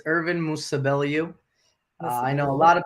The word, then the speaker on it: Musabelliu: So can you please introduce yourself and pronounce your last name for us? All right. What's going on, guys? It's Ervin Musabelliu.